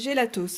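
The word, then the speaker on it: Gelatos: Moi je dis gélatos, hein. Il y a un S à la fin, je le prononce, voilà, il est là, je le prononce.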